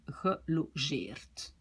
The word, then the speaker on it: gelogeerd: Et logeren, ici ce n'est plus une syllabe ouverte, je dois dire gelogeerd.